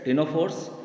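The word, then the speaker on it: ctenophore: और इसके एग्जांपल्स आपके हो जाएंगे सिलेंड्रेट्स, टिनोफोर्स एंड इकाइनोडर्म्स। सी यहाँ पे साइलेंट रहेगा स्टूडेंट्स टिनोफोर में।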